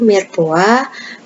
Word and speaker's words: mirepoix: Tulisannya M-I-R-E-P-O-I-X, mirepoix, tetapi kita bacanya mirepoix.